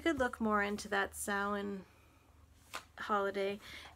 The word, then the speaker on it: Samhain: grateful heart you could look more into that samhain holiday it's actually prince it's pronounced sound but it's spelled s-a-m-h-a-i-n that's one of the